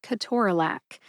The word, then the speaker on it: ketorolac: This is the 24th episode in my drug name pronunciation series, and today we're talking about Ke-TOR-a-LAC.